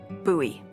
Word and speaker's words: Bowie: It's actually pronounced Bowie. What? No, it's like the last name, like David Bowie. Different last name. Bowie.